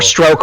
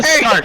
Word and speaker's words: STRQ: Or Stroke, however you pronounce it. STRQ. I want it. Stark. Was it Thank you. Stark. STRQ. I was Whatever. confused. Team Stark.